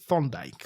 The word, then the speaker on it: Thorndike: Thorndike.